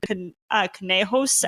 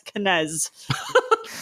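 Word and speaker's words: conejos: We were just discussing how my family was mispronouncing the word canejos as canez.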